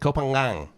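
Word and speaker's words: København: a scooter around copenhagen so you do pronounce the g it's like a soft g kopang well we have mongo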